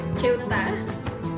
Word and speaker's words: Ceuta: Bacanya gimana sih? Ceuta.